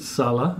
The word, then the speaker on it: Salla: Is it Salla or Salla? I pronounce it Salla.